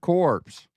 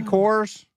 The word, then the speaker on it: Corps: uh C contra hard corpse now. Did you say corpse? Did I say cors? Contra hardcore. Okay. Sorry. The PS is silent.